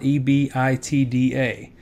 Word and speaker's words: EBITDA: of something like this, the term EBITDA, E-B-I-T-D-A, or again, we often, business folks will you know, say it like EBITDA. It's something I've always said.